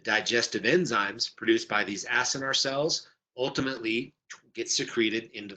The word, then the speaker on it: acinar: 99% of your pancreas is made up of these acinar cells, sometimes pronounced as cynar cells, but these acinar cells are the cells that produce digestive enzymes.